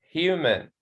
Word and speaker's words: human: Okay, human. Okay, also the stress at the first syllable here.